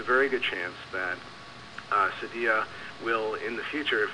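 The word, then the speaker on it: Cydia: mentioned something called cyia Cy d i a Sadia I think is how it's pronounced all right I'm not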